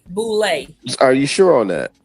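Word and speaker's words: Boulé: So there's a couple of different ways to pronounce it. No, it's called Boule.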